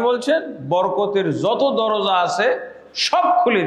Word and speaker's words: বারাকাত: বরকতের যত দরজা আছে সব খুলে দিতাম। বরকত শব্দটা আমরা তো বাংলায় ব্যবহার করি।